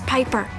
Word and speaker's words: Piper: change today amanda bynes the names Piper rhymes with Viper and Robin Williams I'd